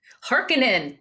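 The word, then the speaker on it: Harkonnen: sorry what's their name hekinan there there's an extra syllable there's an extra K in there the heinens are on their tails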